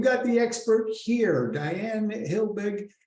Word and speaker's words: Helbig: And we've got the expert here, Diane Helbig. Did I pronounce that right, Diane? Helbig, yeah. Helbig. Diane Helbig is an award-winning speaker and author, advisor, and trainer.